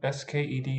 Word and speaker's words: sked: This one, S-K-E-D in Swedish, unexpectedly is pronounced sked.